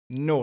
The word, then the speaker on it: know: Sachant que no ne se prononce pas KN. Le K est muet.